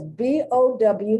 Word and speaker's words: bow: to pronounce it because b-o-w has two sounds has two distinct pronunciation one is bo the other is bow to bow ow so you can see